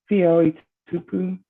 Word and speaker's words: Fia Tupu: How do you say that name? Fia Tupu. Fia Tupu.